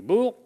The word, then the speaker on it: Boers: Boers, on doit prononcer Boers, on doit prononcer à la française, si vous voulez, la guerre des Boers.